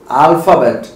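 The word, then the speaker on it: alphabet: क्या बोला मैंने, अल्फाबेट। तो आप जब इसको बोलेंगे तो अ नहीं बोलेंगे, हिंदी में वो प्रोनाउंसिएशन, वो हमारे पास अक्षर है ही नहीं, सो इट इज अल्फाबेट।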